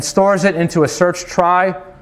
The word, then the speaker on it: trie: it into a search try also sometimes pronounced tree stands for retrieval so quick data structures